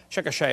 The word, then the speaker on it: Chickasha: textbook still has it 2005 textbook and I pronounced it wrong as Chickasha nots Chickasaw Chickasha Oklahoma I got corrected during the break still